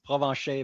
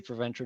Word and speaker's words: Provencher: So, I always translate my name in The real real pronunciation is Provencher, but you can say Provencher, no problem, if you ever have to say my name.